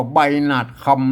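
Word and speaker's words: ใบหนาดคำ: คำ คำ นะ ครับ มอ คำ นี่ ก็ อ่าน ได้ 3 เสียง นะ คำ ค้ำ น่ะ แต่ ใน บริบท นี้ อ่าน ว่า ใบ หนาด คำ นะ ครับ ใบ หนาด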